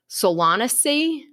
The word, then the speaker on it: Solanaceae: They're technically the edible parts of flowering plants in and I'm probably going to butcher this, but I think it's pronounced Solanaceae family.